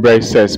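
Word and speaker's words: Briseis: capture the person that ailles captured by name Braes braces is spelled b r e i s e i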